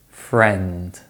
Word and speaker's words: friend: It can be spelt with other letters, such as in the words many, again, guess, friend and berry, but these spellings are rare.